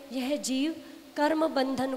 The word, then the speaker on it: जीवः: बध्यते मुच्यते जीवः सममो निर्ममः क्रमात्। बध्यते मुच्यते जीवः, जीवा नहीं है, जीवः शब्द, जीवः है ना, जो विसर्ग होती हैं उनका हकार के रूप में उच्चारण होता है, जीवः ऐसे, ठीक है ना।